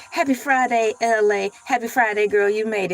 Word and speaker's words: ELAY: It is freestyle Thursdays and you are locked into LA. Pronounce like LA like the city.